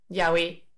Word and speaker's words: Yahé: Pero la forma abreviada de Hish, wish y Hish, rish es justamente JH o JHRH que se pronuncia Yahé.